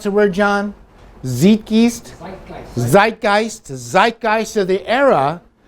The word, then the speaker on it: Zeitgeist: How do you pronounce the word, John? Zeitgeist? Zeitgeist.